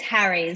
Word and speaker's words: Harries: our show and how do you say your last name i'm not gonna i hate to screw up last names i do it all the time that's all good it's harry so it's like harry a